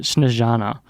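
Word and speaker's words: Snežana: yes snares yeah but he says that you pronounce it snezana like a J not not a Zed so snezana speaks Macedonian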